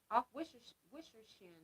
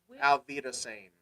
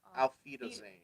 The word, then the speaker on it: Auf Wiedersehen: Off Wishershin, right? Auf Wiedersehen. Oh, it's a V. The W is pronounced W's like a are V. V's, yeah. Okay. Auf Wiedersehen.